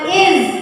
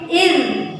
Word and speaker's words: إذ: Nah, ini bukan iz tapi iz. Nah, letakkan lidah pada gigi seri atas.